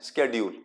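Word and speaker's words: schedule: जैसे हम शेड्यूल word हम बोलते हैं एस एच ई डी यू एल ई शेड्यूल। अब वो कई लोग उसको किस तरीके से प्रोनाउंस प्रोनाउंस करते हैं? स्ेड्यूल है ना?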